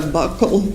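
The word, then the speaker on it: buccal: Now, um can you tell the jury what a bugle swab is? So, a bugle swab or a buckle swab, depending on different people say it different ways, it's spelled B U C A L.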